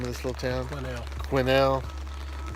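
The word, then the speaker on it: Quesnel: Quinnell, which is not spelled that way. Nothing is spelled like it sounds up here.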